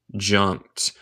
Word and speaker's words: jumped: No se dice jumped. No se dice el E y el D suena como T. Jumped.